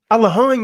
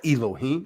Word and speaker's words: Elohim: the muslims pronouncing allah al-ahem is the same situation the arabs have been saying it correctly all along it's not elohim not it's not no